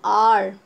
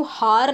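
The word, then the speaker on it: hour: सी, पहली बात है इसका प्रोनाउंसिएशन, आप इसे आवर नहीं बोलते हो, हार नहीं बोलते हो, ओवर नहीं बोलते हो, इसको आप आर बोलते हो, एच इसमें साइलेंट रहता है।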